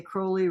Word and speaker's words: Crowley: Now, I don't think that Crowley, and he'd always say Crowley rhymes with holy, and no one, yeah, okay, fine, whatever.